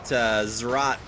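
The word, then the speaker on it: Zz'Rot: And then Kobe on LCS actually pronounces it Zerat portal, which I think is probably a little bit closer. But I don't think you're supposed to say both Z's.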